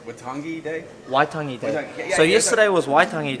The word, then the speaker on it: Waitangi: Waitangi Day.